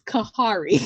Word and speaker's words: Khary: lot of caries actually actually your name is kahari yeah you know all of us say our name is very different name kari your name is kahari that's how it was supposed to be pronounced but my parents decided to pronounce it a different way from what they tell